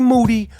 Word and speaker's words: Moody: then me and G Moody last name rhymes with duty are gonna do our